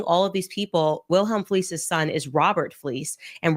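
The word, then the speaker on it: Fliess: Like Wilhelm Fleece by the way you want to look up this guy Wilhelm Fleece. Lisa is spelled F L E I SS.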